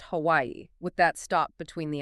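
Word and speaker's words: Hawaiʻi: It represents the glottal stop. You literally stop the airflow in your throat. So the name of the state is correctly pronounced Hawaii, with that stop between the IS.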